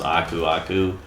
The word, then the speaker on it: Aku: Oh, hey, look, I've already got a Aku mask. I know it's technically the right way to pronounce his name is Aku, but come on now.